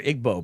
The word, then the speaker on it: Igbo: there to Rudy and it is pronounced Ebu my bad it's not IG I I always hear Igbo but okay it doesn't